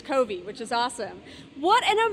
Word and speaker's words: Covey: to practice it and i want to say covey but it's kobe which is awesome what